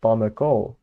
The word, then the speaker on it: palmeko: hand is palmeko, then I don't know where to put the stress. I could put it on the last syllable actually. So we have something like palmeko.